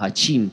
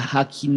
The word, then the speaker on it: Hakim: Casi suena como Hachim, pero Hachim se escribe con la J del íntimo de Dios. En el mundo anterior o en la teología se escribe con CH. Hachim. Pero aquí no se escribe así, aquí se escribe Hakim.